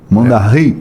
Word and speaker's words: Mondaí: de Mondaí M bom Mondaí a pronúncia certa seria mond mondar isso tem origem da língua Guarani significa rio roubado né